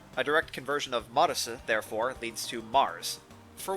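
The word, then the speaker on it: マルス: Japanese doesn't have a TH sound, so the Su character takes its place. A direct conversion of Marisu, therefore, leads to Mars.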